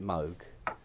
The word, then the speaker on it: Moog: just don't it took me three years to pronounce it Moog after a lifetime of saying Moog yeah some say Yamaha yes yeah well cows